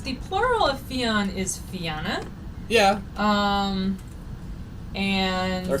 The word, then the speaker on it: Fianna: Fianna. Accent on the first syllable. And then Scots Gaelic Fenya.